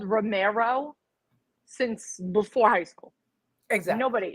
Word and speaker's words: Remauro: I've been called Romero since before high school. Exactly. Jimmy even calls me Romero. I don't think it does. It's not Romero or Rimaro. It's Romero.